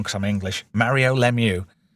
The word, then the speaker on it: Lemieux: Yeah, that was I obviously I pronounce it wrong cuz I'm English. Mario Lemieux. Lemieux.